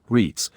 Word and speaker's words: REITs: Real estate investment trusts, or REITs, pronounced REITs, are companies that own and collect rent from commercial and residential properties.